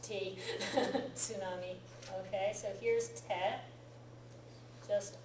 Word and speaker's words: tsunami: in English but yeah most people just give it an S sound but the t is there in the English spelling of it tsunami they just say